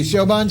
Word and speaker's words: Choban: Is this the Choban salad?